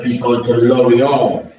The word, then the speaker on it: Lorient: And next, transfer challenger looks like he's going to Lorient. Lorient, not Lorient. Lorient. That's how you spell it in French.